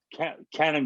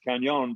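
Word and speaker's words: Cañon: and also there's uh canon drive they call it it's canyon drive really because that's until they over it should be pronounced kanyon but nobody does i've been pronouncing it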